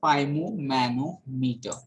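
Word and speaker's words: sphygmomanometer: Then here is spimomanometer. What is this? How to pronounce it? That is spimomanometer. Okay, G is silent here.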